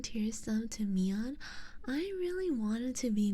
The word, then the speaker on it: Myon: Anyone call you Mayon yet? Nope. Everyone actually pronounced Mion correctly.